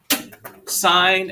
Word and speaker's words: sine: no i won't but sine and cosine even when abbreviated are still pronounced sine and cosine it's not sin and cos okay and tan